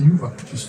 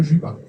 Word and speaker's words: Yuva: Yuva, normalement, c'est Yuva, c'est pas Juba.